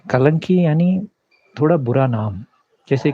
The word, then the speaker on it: कल्कि: जब बाकी चैनल वाले कलंकी कलंकी बोल रहे थे, ओरिया चैनल वाले, मुझे समझ में नहीं आ रहा था ये क्या कलंकी क्या बोल रहा है। मैं सोचा कल्कि का प्रोनाउंसिएशन गलत हो रहा है क्या।